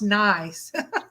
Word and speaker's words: gneiss: GNEISS is pronounced nice.